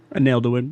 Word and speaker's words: Angelorum: Is that how that's pronounced? Angelorum, yeah.